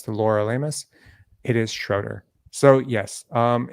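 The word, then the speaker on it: Schröder: for all Raptor fans it's schroer not shudder I've said shudder the broadcast team says shudder it's schroer I checked I checked with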